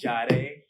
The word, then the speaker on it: Jahde: Jahde. Like Sade with a J.